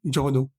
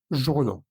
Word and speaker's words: journaux: En plural sería des journaux, des journaux.